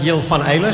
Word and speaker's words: Jil Van Eyle: Sí, mi nombre es Jill Van Eyl, soy holandés. Sé que en holandés se pronuncia así, pero ya llevo 15 años aquí, entonces yo estoy acostumbrado a cualquier versión. O sea que yo reacciono a cualquier pronunciación.